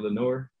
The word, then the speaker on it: Lenoir: screwed up uh so is diameter lenore that's how you say and it's been screwed